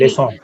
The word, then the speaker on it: leçon: So what it does, it makes your k sound, it changes your k sound to s, soft s. So, Exactly. leçon.